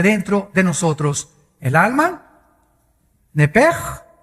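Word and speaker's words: נפש: La palabra, la letra o las letras SH en el hebreo se pronuncian en hebreo como J. Entonces se pronuncia nepej.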